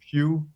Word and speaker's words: Pugh: Suggest a person instead of a band, because I'm actually suggesting that you follow Malcolm Pugh and all his weird ass side bands.